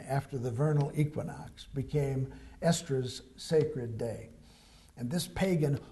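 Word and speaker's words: Eastre: the festival of estra that's pronounced estra but it's spelled e-a-s-t-r-e estra was the goddess of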